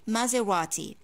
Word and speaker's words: Maserati: the brand after that i divide it into three ports and i say maze radi ma and again you can pronounce the t like normal t maserati for example a maserati can cause a fortune